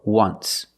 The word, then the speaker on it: once: example just once but you say there's an o in once that's a vowel but phonetically it's not a vowel phonetically it makes the sound w w like a w ww once so phonetically the t